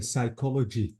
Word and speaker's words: psychology: psychology exactly so uh the p is silent the Y is I I have to say psychology it's from Psych or